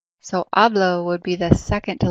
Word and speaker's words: hablo: just a moment okay in Spanish the rule is the second to the last syllable always gets the emphasis however if it doesn't fall on that second to last syllable then it's marked with the accent mark so you know which